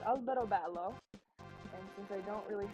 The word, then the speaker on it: Alberobello: There's a town by me called Alberobello, and since I don't really have internet right